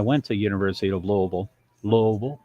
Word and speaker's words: Louisville: to University of Louisville Louisville two syllables Louisville two syllables um but